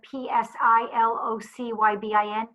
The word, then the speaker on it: psilocybin: and ketamine also PCP and that's pronounce the PSI LOC y bi n it's pronounced psilocybin and that I know would never